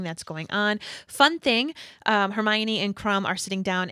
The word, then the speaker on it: Hermione: listening into everything that's going on fun thing hermione and crum are sitting down and she's explaining